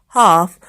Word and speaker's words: half: So say these words aloud: knife, no, knock, knob, night, calm, calf, half, talk, walk.